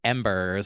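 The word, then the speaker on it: Embrz: finally we're here from the artist embers spelled e-m-b-r-z he has a new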